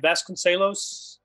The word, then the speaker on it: Vasconcelos: Hugh Williams and Michelle Vasconcelos. Am I pronouncing her last name right? Vasconcelos? Yeah. Spot on.